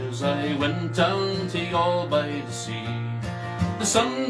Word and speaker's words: Youghal: Youghal. That's for all my North Carolina friends. Youghal. It's spelt Youghal.